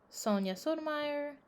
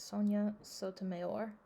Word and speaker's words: Sonia Sotomayor: Sonia Sotomayor, that's not how you say it, Sonia Sotomayor.